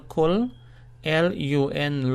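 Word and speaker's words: كُلٌّ: Therefore, the L must be pronounced twice. So to spell and pronounce, we say K-U-L, kul, L-U-N, lun, kullun.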